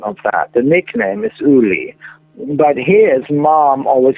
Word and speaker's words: Uli: Is it Ula or Uli, by the way? How do you say his name? Uli. Well, his name is Ulrich, which is the same name as mine, the full written name in German.